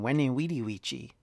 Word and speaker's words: veni, vidi, vici: is actually more likely in classical pronunciation, Veni, Vidi, Vici. So in other words, it was W sound rather than a V sound.